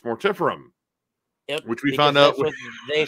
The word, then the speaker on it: Mortiferum: anvil and uh mortiferum we've been saying it wrong this entire time we have been saying it so wrong for so long we've been calling him mortapharam and it's mortiferum which we found out